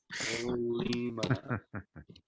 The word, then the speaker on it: Colima: Oh, take the N at the end. Not Coleman. Colima.